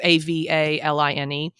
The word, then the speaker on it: Avaline: Oh, what they gave Aveline, I'm assuming it's Aveline, right? That's how you say it. It's Avaline.